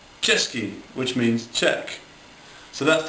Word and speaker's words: Český: Now to pronounce this, you've got to say it like the English word for cheers, like Český, which means Czech. So that's the first one. So remember that? Český, ch.